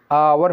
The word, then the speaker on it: hour: hour, फॉर 1 hour, ये H silent है, आवर पढ़ेंगे, 1 hour।